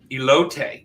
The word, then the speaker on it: elote: I make a corn elote. Jennifer, did I pronounce that correctly?